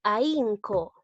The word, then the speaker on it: ahínco: ¿Dónde están las vocales seguidas? En la A y en la I, ¿no? La A es abierta y la I es cerrada. Observa bien, la I lleva tilde. Entonces, veo que cuando hay una vocal abierta y una cerrada con tilde, se produce el hiato acentual. Entonces, aquí también estamos hablando de hiato acentual.